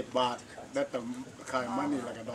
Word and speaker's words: baht: So baht in Thailand is like 30 baht right now for $1. So it's not baht. So baht in Paris you use between P sound and B sound.